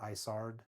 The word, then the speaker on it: Isard: And I know it looks like it says Izard's, but I read something where he said he wanted it to sound like Ice Heart, so he named her Isard. So that's how it's supposedly pronounced.